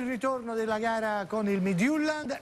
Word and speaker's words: Midtjylland: Napoli-Fiorentina, Midtjylland-Napoli, mi dicono si pronunci così, Chievo-Napoli, Napoli-Palermo, Genoa-Napoli, il ritorno della gara con il Midtjylland e poi Napoli-Udinese.